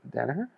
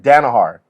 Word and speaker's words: Danaher: you called what do how do you say danaher danaher no you you said danahar you always say danahar I